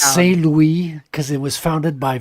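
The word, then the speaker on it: St. Louis: a mud mud cake first of all it's pronounced s Louie because it was founded by French per trators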